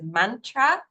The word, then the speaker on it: mantra: If I'd never heard that word before, and to just say on the Sanskrit pronunciation, some of you might be used to hearing this said as mantra.